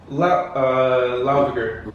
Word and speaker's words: Laugavegur: Brendan, how do you pronounce it? Landmannalaugar. Laugavegur.